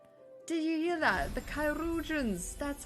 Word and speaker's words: Chirurgeons: The Chirurgeons. That's how it's pronounced.